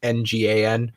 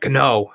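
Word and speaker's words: Ngannou: and then that's why if you see any of his first fights in the ufc they call him francis gno because it's ngan which is a different pronunciation in france interesting yeah a little bit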